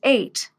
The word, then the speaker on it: ate: common irregular past verbs eat becomes eight just like the number eight it's the same pronunciation yesterday I ate pizza